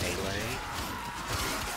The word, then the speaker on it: melee: Melee! No A in it. I pronounce it melee.